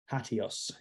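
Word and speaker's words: HATEOAS: hot, and it's called HATIOS. So what is HATIOS? Well, HATIOS is an acronym, stands for hypertext as the engine of application state. In terms of pronunciation, I always just think adios.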